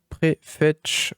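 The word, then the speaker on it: Prefetch: fois vous allez taper préfet comme ça se prononce hop prêt fetch voilà donc pr E F e t C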